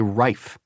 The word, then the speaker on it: Rife: I mean, how hard is it to say rife? It's only one syllable.